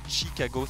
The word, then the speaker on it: Chicago: à l'américaine ch fondis chicago c'est comme choke par exemple il n'ya pas de